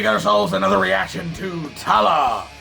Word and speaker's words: Tallah: ourselves another reaction to tala which is apparently how it is pronounced i've been saying to law this whole time and i feel like